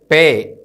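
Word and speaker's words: ܦܐ: ശ്രദ്ധിക്കുക അടുത്ത അടുത്ത അക്ഷരമാണ് പേ ഈ അക്ഷരം രണ്ടു രീതിയിൽ ഉച്ചരിക്കാം ഇതിന് ഹാർഡ് ആയിട്ടുള്ള ഒരു പ്രൊനൻസിയേഷനും സോഫ്റ്റ് ആയിട്ടുള്ള പ്രൊനൻസിയേഷനും ഉണ്ട് ഇത് കഠിനമായി ഉച്ചരിക്കുമ്പോൾ പ എന്നും മൃതുവായി ഉച്ചരിക്കുമ്പോൾ ഫ എന്നും ഉച്ചരിക്കുന്നു ഹാർഡ് പ സോഫ്റ്റ് ഫ ഇതിൻറെ ന്യൂമറിക്കൽ വാല്യൂ 80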